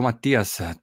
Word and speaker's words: Mathias: all right we are recording so hello Matias thank you to to join me did I pronounce it good yes you did thank you